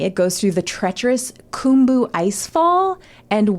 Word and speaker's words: cwm: goes through the treacherous kumu icefall and Western Kum which is spelled cwm but you say Kum CW yeah okay it's